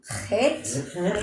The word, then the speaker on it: Het: Het, Hit. CH as in Bach.